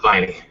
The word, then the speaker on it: Viney: How do you pronounce your last name? It's pronounced Viney.